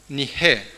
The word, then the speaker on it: Nike: Y nikao viene de Nige, que se escribe Nike. N-I-K-E.